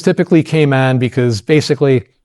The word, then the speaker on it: Cayman: Although if you want to impress anybody in the industry, it's actually pronounced Cayman down there, but no one ever says it. Everyone says Cayman.